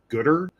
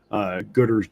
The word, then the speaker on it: Goodr: would recommend looking into a company called Gooder. It's spelled Goodr.